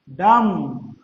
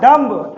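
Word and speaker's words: dumb: डम, नॉट डम्ब, am silent है यहां पर। हाँ, मूक कहते हैं, मूक, जो बोल ना पाता हो मूक बोला जाता है। तो आप ये ध्यान रखोगे कि एम साइलेंट है यहां पर, तो डम्ब नहीं बच्चों, डम, ना बोल पाने वाला।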